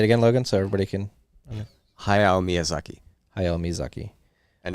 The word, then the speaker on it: Hayao Miyazaki: Hayao Miyazaki. I don't know if I pronounced that right. Hayao Miyazaki. Like say it again. I did pretty good. Say it again, Logan, so everybody can. Hayao Miyazaki.